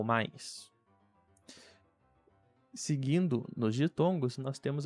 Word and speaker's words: mais: Então, para a combinação ai ou nós temos em inglês a palavra time. Então esse I de time, I é basicamente muito parecido, senão igual ao I, em português da palavra pie ou mais.